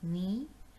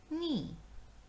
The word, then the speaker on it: knee: k n double e knee in last three words letter k the sound of k is silent that means we are not going to pronounce k okay so the this